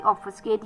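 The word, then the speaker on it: obfuscate: ओ बी एफ यू एस सी ए टी ई ऑफ स्केट।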